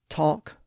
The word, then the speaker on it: talk: And notice that in all of those words, the L isn't pronounced. We don't raise our tongue to that ridge above the upper teeth to make the L sound in those words.